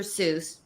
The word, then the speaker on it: Seuss: to quote from Dr Seuss it's actually pronounced soyce but that's a whole